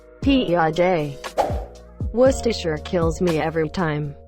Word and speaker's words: Piaget: for the Swiss psychologist Piaget every town he calls it PI AG when it really has a French pronunciation kind of like PEO day Worcestershire kills me every